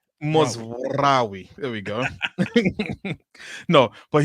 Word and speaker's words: Mazraoui: Yeah, they all say his name wrong and it pisses me off. Bro, Mazraoui.